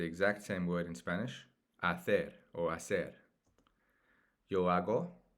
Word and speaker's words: hacer: To do and to make is the exact same word in Spanish, hacer or hacer. Yo hago, remember, the H at the beginning of the word is silent in Spanish.